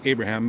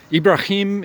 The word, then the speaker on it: Ibrahim: You call him, most English speaking people say Abraham, but it's Ibrahim is much closer. That's kind of how the Muslims would say it.